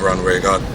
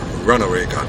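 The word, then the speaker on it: Runaway Ghaut: run r on water monerans generally take tend to pronounce it so that it sounds as if we are saying Runway gut we are actually saying runaway gut it's called Runaway gut the water running down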